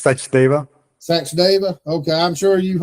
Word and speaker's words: Sachdeva: Welcome, It's Sachdeva. Sachdeva. Okay, I'm sure you've heard so many pronunciations, it's not even funny, but we appreciate you coming on.